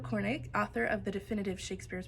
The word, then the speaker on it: Shakespeare: Harold Cornig, author of the definitive Shakespeare's pronunciation, thought it was possible that Shakespeare said it with a short A, as in shack.